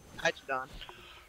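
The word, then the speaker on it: Ptychodon: be, I think it'd be Hydrodon. Because, like a pterodon, the P is silent.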